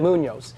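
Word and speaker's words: Muñoz: Munoz.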